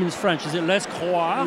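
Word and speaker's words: Lescroart: Is it Les Croix? Les Croix.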